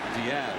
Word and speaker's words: Diaz: Diaz, excuse me. That's the proper pronunciation. Diaz. I should know that.